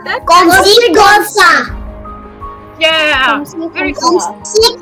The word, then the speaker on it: comme ci, comme ça: Comme ci, comme ça. Repeat. Oui. Who said that? Comme si, comme ça.